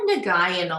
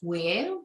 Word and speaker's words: Nguyen: other people pronounce it usually i get nagayan a lot or n guys i'm like i'm just very used to it now can you pronounce it properly just so we get it right for the future for all our listeners all right it's kind of complicated so it's weighing but that's like i